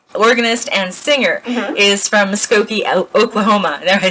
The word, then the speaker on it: Muskogee: Your great-grandmother, who is known as an accomplished pianist, organist, and singer, is from Muskogee, Oklahoma.